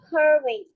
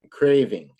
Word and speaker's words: craving: Curving. That's we can take it to back. Craving. It's pronounced craving. A long A.